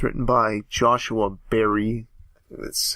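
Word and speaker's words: Joshua Barrie: It's written by Joshua Berry. That's how you pronounce his name.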